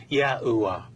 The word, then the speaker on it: YAHUAH: There are a few variations within this medieval time period, but the consensus suggests God's sacred name was pronounced as YAHUAH.